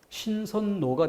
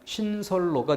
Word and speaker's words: 신설로: 예제 3번에 동그라미 5번 가면은 신선과 로가 만나는데 그러면은 이 방식으로 발음하면 뭐가 돼요? 신선노가 되죠. 신선노. 그런데 이 방식으로 가면 신설로가 되죠. 그러니까 신선노, 신선노 이 방식으로 자연스럽게 느끼는 사람은 거의 없을 겁니다. 대부분 리을로, 신설로 이렇게 자연스럽게 느낄 거야.